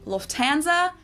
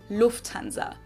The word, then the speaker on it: Lufthansa: In English, people usually say Lufthansa, but in German, we say Lufthansa. So the emphasis is on the first syllable.